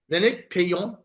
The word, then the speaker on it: Lénaïc Peillon: So we have Lénaïc Peillon.